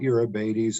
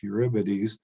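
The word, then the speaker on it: Eurybates: the trojan asteroid 3548 uribetes not europe 80s it's eurybids that's the proper pronunciation it was only a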